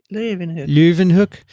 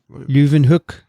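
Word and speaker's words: Leeuwenhoek: so what's your pick leuven hook it's louvin i think luvenhook yeah dixon how would you say it ravenhook floyvan it's luv and kathy knows the phonetics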